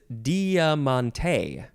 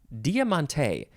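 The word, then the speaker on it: Diamanté: um a good one the next word is Diamante Diamante and this is spelled d-i-a-m-a-n-t-e and the E has an accent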